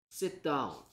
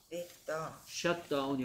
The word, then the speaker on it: sit down: Sit down. Shut down이 아니고요. Sit down.